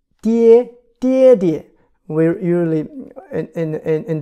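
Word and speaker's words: 爹: It's called a die. First tone. Like dad, daddy, die, die, die.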